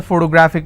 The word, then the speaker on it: photographic: photographic somebody has a photographic memory so what are the syllable break it's four toe bra thick and since this ending with IC I will stress on graph so whatever is the